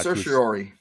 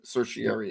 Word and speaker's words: certiorari: that system yeah let's talk about that it's called certior certior certieri Uh certiorari thank you sociary certiori is how George pronounces it but I've heard it certiary as well it's it's spelled certiary so we'll